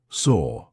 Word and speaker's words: saw: we speak it's annoying so actually saw feels like it should rhyme with door right it's the same sound saw door look at the word door there's an r on the end okay so actually this sound feels like it ends in an R the